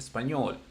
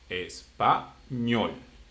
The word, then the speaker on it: español: Español, it ends with L, consonant. Español.